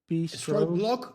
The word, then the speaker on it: Storyblok: How do you pronounce the company's name? It's Storyblok. So STROB. Storyblok, but all the people will imagine that block